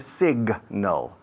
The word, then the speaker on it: signal: Si se pronuncia signal. La G se pronuncia muy bien, se oye bien.